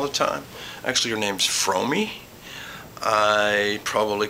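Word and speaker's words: Fromme: I think one of the first things I butchered was I used to call her Frome all the time. Actually, her name's Fromey.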